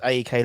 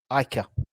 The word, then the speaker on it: AEK: we kick off against AK lanika or as I think it's pronounced Ikea that's that's what that's what actually people from Lana could call it Ikea so there we go